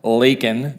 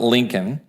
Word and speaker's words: Laken: ended up killing lak it's pronounced Laken not Lincoln lak Riley in Georgia